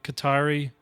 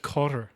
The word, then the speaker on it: Qatar: certainly are the cter qari you know government apparently it's pronounced cter like it's closer to cter than it is qar no I don't believe